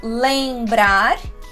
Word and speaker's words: lembrar: Por exemplo, lembrar, em, lembrar.